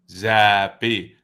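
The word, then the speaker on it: Zappe: Two syllables. Zappy.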